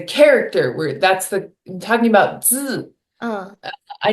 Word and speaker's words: 字: uh, I need to like be really careful not to say 汉字. So I think when I talk a little faster, and again, this just goes back to our previous topic of, hey, slow down. But I can sometimes find myself placing the I sound where the E sound should be.